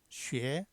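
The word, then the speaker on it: 血: 피혈은 리을 입성 발음이 없으니까 쉐, 쉐, 쉐, 쉐 이렇게 발음되죠. 쉐.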